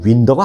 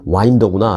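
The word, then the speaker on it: Winder: 그래서 윈더라고 제가 발음을 했는데 발음은 아마 잘못한 것 같습니다. 그 지역에 바로 거기 사시는 분이 제가 사는 곳이 와인더입니다 라면서 아주 점잖게 저를 좀 교정시켜 주셨습니다. 그래서 제가 알겠습니다. 아, 이 윈더가 아니구나, 와인더구나 라고 알았습니다.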